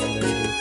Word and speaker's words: Mabinogi: maybe gameplay, Mabinogi, whatever, however you want to pronounce it. I pronounce it Mabinogi because it's less awful.